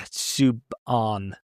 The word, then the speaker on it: Subban: Well, it's not a hard "an." Yeah, Subban. Yeah, like that.